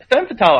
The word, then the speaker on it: Femme Fatale: It's French, so the S's are silent at the end. It's Femme Fatale.